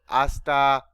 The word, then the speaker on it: hasta: next one hasta remember the letter h is silent in spanish so hasta tal no hasta manana hasta will be